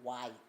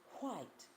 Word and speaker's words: white: She said, when you pronounce the word white, you say white. She said, you're saying it flat. She said, you have to blow with it. You have to say white.